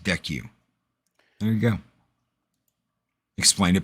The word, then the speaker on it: DCEU: And they already had a kick-ass animated universe, so DCEU pronounced DECU.